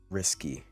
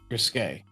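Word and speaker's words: risqué: Did you say that with a Q or a K? Risky. What? Risque. Okay. You said risky. So, yeah, that's not how that that's pronounced.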